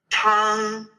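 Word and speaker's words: tāng: the first sound so TNG would be Tong Tong good now Tong um kind of starts with a very aspirated sound so this T has to be you kind of have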